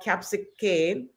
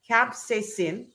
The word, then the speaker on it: capsaicin: the Abundant presence of capsic cane or let me pronounce this right capsid sin capsaicin so that's the active ingredient